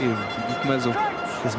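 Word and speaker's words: Masoe: Il y a beaucoup de techniques là quand on voit George Smith, Chris Mazo, Emmons, Vous ne prononcez Bastaro. pas le E, vous dites Mazo. Chris Mazo.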